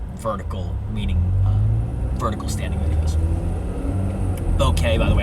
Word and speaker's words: bokeh: Bokeh, by the way, I think you spell that B-O-K-E-H. Boca? No, like Boca Raton. No, I believe it's pronounced bokeh.